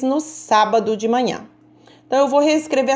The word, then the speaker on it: sábado: é com acento circunflexo no sábado sábado olhos a saiu mais forte e com som aberto então a vai receber